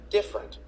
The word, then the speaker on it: different: The vowel immediately after a stressed syllable is sometimes not pronounced. Average. Different.